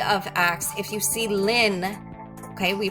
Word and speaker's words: ln: log base E of ax if you see Lin okay we pronounce it as Lin but we don't say